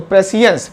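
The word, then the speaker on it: prescience: एंड नेसिएंट not knowing, तो इसका जो नाउन बनाएंगे तो क्या होगा, यहाँ पे इसका प्रोनाउंसिएशन साइंस नहीं होगा, सियंस होगा, सियंस। तो प्रेसियंस पूर्व ज्ञान, एंड बिफोर नॉलेज, इसका मतलब अलग अलग लिखा हुआ है मैंने, है ना।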